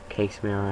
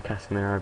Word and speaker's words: Casemiro: good players k casemiro Sorry MGH says casir and now I'm getting to the habit of it it's actually casiro but it doesn't matter